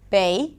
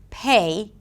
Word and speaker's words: pay: When it comes to the P sound, when the sound is at the beginning of a word, or at the beginning of a strong syllable, then the P should be aspirated. But because there is this confusion around sounds, because the rules are not the same in English and Hindi, then what happens is that sometimes they will underpronounce the P: 'bay' instead of 'pay' - even though the P exists in Hindi-Urdu.